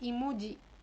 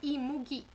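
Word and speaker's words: 이무기: ahora la palabra imugi Yo pensé que como estaba leyéndolo en inglés se se debería pronunciar imui y juraba que era imui todo el tiempo leía imui pero de verdad suena imugi o sea en coreano está escrito de esa forma Esta es una representación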